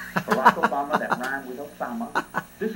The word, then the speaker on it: Obama: And this is who Barack Obama, which rhymes with Osama, Barack Obama, that rhymed with Osama,